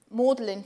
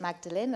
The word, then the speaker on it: Magdalen: started to call around colleges so i called mordelin first but i pronounced it magdalene and they corrected me immediately i was like